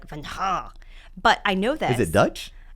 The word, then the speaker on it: Vangheluwe: And it's not even pronounced Van. It's Van Ha.